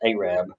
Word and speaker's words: Arab: That's spelled Arab, pronounced Arab, in Alabama, and a place at the foot of the mountain in Gunnersville called Dog Holler.